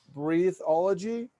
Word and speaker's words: Breatheology: It is spelled with an E in the middle, breatheology. There's an E in the middle there, like breathe. Ology, so it's like biology, which means the science of life.